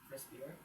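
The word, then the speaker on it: CRISPR: R I C T C R I SPR pronounced crispier stands for cluster regulated regularly interpaced short pilentroic repeats.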